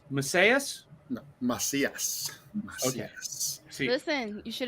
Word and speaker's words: Macias: want to mispronounce your last name is it pronounced masseuse okay see listen you should have just actually